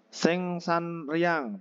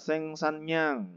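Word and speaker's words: 생산량: Kita lihat contohnya yang pertama ada sengsan riang tapi bacanya sengsanyang gitu ya.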